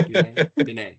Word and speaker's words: Dunay: Undoubtedly the greatest women Foursquare player to ever grace our planet, Miss Brittany Dunay. Did I pronounce that correctly? Yeah. Dunay.